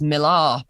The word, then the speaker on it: Millar: Well, I pronounce it Miller as well, but it's a Scottish version of Miller. So it's probably supposed to be pronounced Millar, but I don't pronounce it Millar. Just that sounds like I'm being posh, I think.